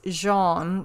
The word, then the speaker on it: Jean: It does have a brand name, and the brand name is Jean, is the French pronunciation of it.